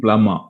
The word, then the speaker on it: plumber: debris debris another interesting plumber plum ah we say plumber plumber letter b is silent there plummer plummer ah yeah